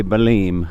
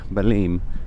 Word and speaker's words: Belém: the Toro de de baleen baleen I believe is the pronunciation but anyway I'm going